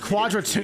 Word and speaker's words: Quadratum: It's pronounced Quadratomb. He pronounces Quadratomb, really. Sense of authenticity. And so but I like pronouncing it as Quadratum.